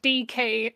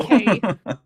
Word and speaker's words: decay: So I heard that as two separate letters, DK and not Oh. decay. So again, DK, it's putting the emphasis on the wrong syllable.